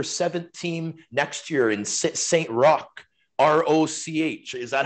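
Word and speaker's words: Saint-Roch: they're getting their seventh team next year in saint rock r-o-c-h is that how you pronounce it claude yeah yeah yeah for sure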